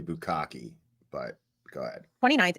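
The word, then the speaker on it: Bukhenik: She had been assigned to Station 1 on the You're not pronouncing it right. It's actually Bukaki, but go ahead.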